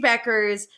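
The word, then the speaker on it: Bueckers: There's a U, but the U is silent. Paige Beckers.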